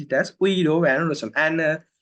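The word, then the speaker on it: Guido van Rossum: a Latin name so a Dutch name not Latin name Dutch name so it's not Guido this is just a fun fact it's Ido van Ros right so it's not Guido so just pronounce it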